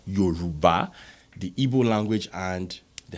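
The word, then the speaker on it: Yoruba: Nigeria which is the eura uh which is pro properly pronounced as Yuba the EO language and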